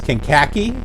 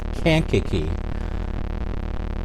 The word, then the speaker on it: Kankakee: call it kenkaki did you pronounce it as kinkaki uh i pronounced it as kinkaki for a long time and then um when